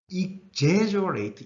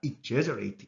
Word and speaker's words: exaggerate: 끊어져 나오고 ATE로 이렇게 끝나게 될 것 같으면은 대체로 발음은 AIT로 소리가 납니다. 동사일 경우에는요. 그리고 강세는 ATE에서 한 음절 건너뛰어서 여기에 떨어집니다. 그래서 읽을 때 exaggerate 이렇게 소리가 나게 됩니다. exaggerate 이렇게요.